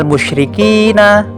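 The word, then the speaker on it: المشركين: Jadi ketika kita berhenti pada lafal tersebut, kita tidak boleh membaca seperti ini. Lam yakunil ladzina kafaru min ahlil kitabi wal musyrikina.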